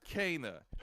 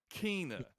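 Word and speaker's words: Kena: It is Kana, Bridge of Spirits, not Kina, Bridge of Spirits.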